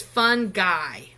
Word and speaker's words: fungi: is actually called fungi and that that G it's fun guy so in this kingdom